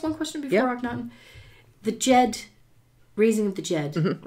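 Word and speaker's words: Djed: Jed, by the way, sorry, is spelled D-J-E-D. That's it. D-J-E-D. Jed, as in the Jedi.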